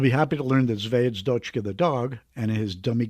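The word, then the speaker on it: Звёздочка: a person, it took up, Jeff, I can't pronounce this word. Try it. Zvezhdakov. Zvezhdachka. What was it? Zvezdochka, the dog.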